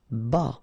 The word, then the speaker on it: bas: Bas. Final S not pronounced.